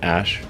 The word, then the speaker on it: Æ: Um, and then the AE is like pronounced ash.